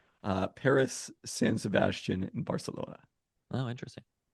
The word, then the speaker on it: Barcelona: No, it is not a th in Catalan. It is in Castilian, but there's a reason their nickname is Barca and not Bartha.